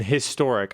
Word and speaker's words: historic: So is H silent in historic? I don't think so. Unless you say it badly. Historic. It's historic, bruv.